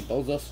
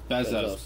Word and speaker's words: Bezos: Bezos? No, it's Bezos.